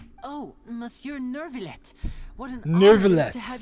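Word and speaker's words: Neuvillette: I am Oh, Mure Nurvlet. What an honor to have you here. That's how you pronounce it. Nervallet. I'm saying Nouvallet. That sounds much better.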